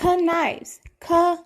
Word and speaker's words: Knives: Also, say his name right. His name is not Knives. It's Knives. Knives. There's a whole K there.